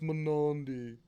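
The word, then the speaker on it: Mnandi: price for that I haven't seen a manand in Forever let pronounced Mani okay sorry about that uh dang where is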